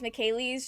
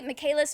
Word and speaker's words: Michaelis: from Black Butler and I think I pronounced his last name as Michael's just cuz I wasn't thinking about it. That's just how it came out. And it sound it to me Michaelis and Michael's do not sound all that different.